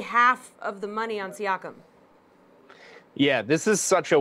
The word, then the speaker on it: Siakam: Siakam. Siakam, yeah.